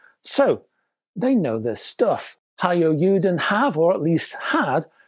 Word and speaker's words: Taiyo Yuden: Japanese brand named, well, it looks like Taiyo Yuden to my English eyes. Actually, it's pronounced Hiyo Yuden.